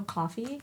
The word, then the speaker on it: Ko-fi: Do you know Coffee? No. It's like. It's spelled like KO-FI, and then it's kind of like Patreon in that sense, where you can like sell.